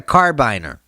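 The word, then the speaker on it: carabiner: what's wrong with me that's not how you pronounce this this my friends is a carbine er you probably know what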